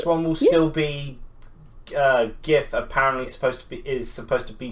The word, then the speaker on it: GIF: Apparently, supposed to be pronounced as GIF. It's not. Not when it's The Craig came out and graphic. said No, the G is supposed to be pronounced like a J, which unfortunately is, according to Mum, isn't a uncommon thing.